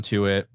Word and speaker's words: Tuitt: It rhymes with do it. Oh, Stephon Tuitt.